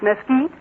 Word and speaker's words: Mesquite: And it isn't Mesquite Springs, it's Mesquite.